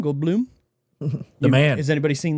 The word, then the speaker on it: Goldblum: Is it Gold Gold Blum? Gold Blum. The man. Has anybody seen that? He's like, "How do you pronounce my name?"